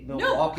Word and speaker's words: Milwaukee: Can you say Milwaukee because properly?